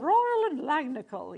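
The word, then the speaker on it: Royal & Langnickel: Royal and Langnickel, yes, you have to say it like that.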